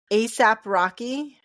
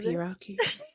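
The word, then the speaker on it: A$AP Rocky: ASAP Rocky. That's the one with the $sign for the S. Is that how you say it? ASAP Rocky.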